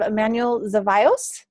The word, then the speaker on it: Emanuel Zevallos: thursday may 4th i'm super excited to have emmanuel zavios is that right emmanuel yeah you actually pronounce it okay good so excited to have